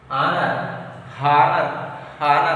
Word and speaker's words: honor: Honor not. Here also H is silent.